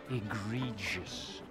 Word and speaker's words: egregious: never been to Brussels it is pronounced egregious by the way no